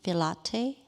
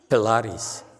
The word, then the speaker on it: Pilates: So I'm a teacher who's teaching Pilate. Pilate? Pilate. Pilate. Pilate, yeah. How do you say it? Pilates. Pilates. Sorry.